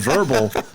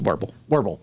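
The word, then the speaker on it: Wirbel: See, I want to call him verbal, but that's Usual Suspects. Yeah. So I don't like that. It's just warble. Yeah. That's how it's spelled.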